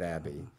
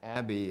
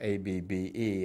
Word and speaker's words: Abbe: And Abbe is spelled A-B-B-E, and he was always concerned that you'd know that it rhymes with tabby, because he was not